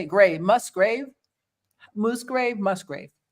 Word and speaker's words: Musgrave: Musgrave? Musgrave? Like a cemetery. Grave. Like a cemetery. Yeah, but the first cemetery, part. grave site. Musgrave? Johny Bob Must like a musgrave. Musgrave.